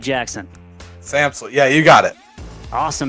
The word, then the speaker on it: Samsel: Are we pronouncing that right, Jackson? Samsel.